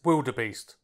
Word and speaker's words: Vildebeest: The Vickers Vildebeest. And yes, that's pronounced with a W, apparently the V was a spelling error.